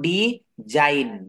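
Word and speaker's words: design: কথা বলেছে, IGN ওয়ার্ডের শেষে থাকলে তার উচ্চারণ আইন হয়, আইন। যেমন ডি জাইন, দেখেন ডি জাইন, ডিজাইন মানে হচ্ছে আঁকা বা একটা ডিজাইন করা, আমরা বলি না।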